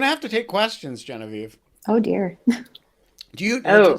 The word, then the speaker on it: Genevieve: I've gotten Guinevere, I've gotten Generva, there's a lot of, Generva. yes. I'm like, I don't see the R or the W, but we're going to go with it.